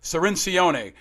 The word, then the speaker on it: Cirincione: us to school the great and powerful joe cirincione joins us back on independent americans thank you